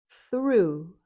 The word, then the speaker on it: through: Through. Thoru. It rhymes with blue.